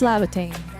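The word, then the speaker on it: Laevatain: It's Labatane. I swear it's supposed to be pronounced Levitain, but I don't know why, but it's Lavitate. All right, thank you everyone for watching.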